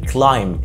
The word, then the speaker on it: climb: rule number one أو القاعدة الأولى، لما بقى جاي عندنا M وبعدها B ساعتها الـ B بتبقى silent أو صامتة. لو عندنا M وبي في كلمات زي climb يتسلق مش climb، ومتسلق climber، climb climb، يسرح come come، زي مثلا